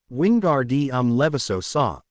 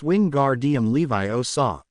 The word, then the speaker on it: Wingardium Leviosa: down by the rist Ron you're saying it wrong she snapped and you're going to put someone's eye out like mine it's Wing gar DM Levi oaw you need to swish